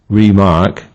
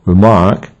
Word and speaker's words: remark: Hence, remark means to mark something again and thus is stressed on the first syllable, while remark means to comment and thus it is stressed on the second syllable.